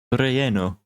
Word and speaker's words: relleno: Yeah, the rule in Spanish is anytime you see 2 L's is always a Y sound. Not sure why, but it is. Interesting. Language. Oh yeah, I was looking at how to pronounce it. It was relleno.